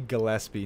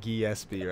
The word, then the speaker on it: Gillespie: always confused me and it's definitely Gillespie not Geass beer oh yeah ok Freddie